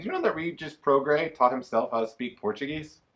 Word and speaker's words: Prograis: that it's not Regis Pro grace its Regis program right the S is silent I Rachel asked you